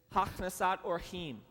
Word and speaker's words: hachnasat orchim: Everyone pronounce it for me. Go. All right, next slide, please. It's hachnasat orchim.